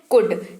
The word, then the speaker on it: could: सबसे पहला शब्द है कुड। COULD। एल जो है वो भाई साहब रहते हैं साइलेंट, यानी कि लिखते वक्त तो आप एल लिखेंगे पर उच्चारण करते वक्त एल का उच्चारण नहीं करेंगे।